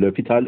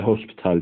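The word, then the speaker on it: L'Hôpital: türevli Hospital kuralı dediğimiz Kural orjinal okunuşu lopital öğrencilerimizle Hostel diyor bunu lopital kuralımız dan bahsedeyim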